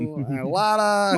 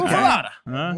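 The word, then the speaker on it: muffuletta: Oh, Muffalata. Muffalata. One last. I don't know why I'm saying it like I'm Italian.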